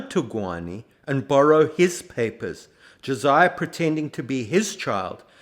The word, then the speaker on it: Josiah: pointed out that Josiah could be spelled phonetically j-o-s-a-y-a Josiah but the man himself begs to differ he insists on Josiah without the H just as he insists